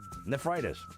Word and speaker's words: nephritis: Nephritis.